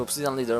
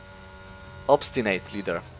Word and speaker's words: Obstinate Leader: Very close time to Obsidian Leader, 1:05.2 as well, but 18 thousandths of a second faster than Obsidian Leader. So the fact that I just realized I was reading that name wrong. Obstinate Leader.